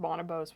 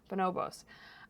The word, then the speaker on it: Bonobos: on that list bonobos I always pronounce it bonobos which is wrong bonobos um and I picked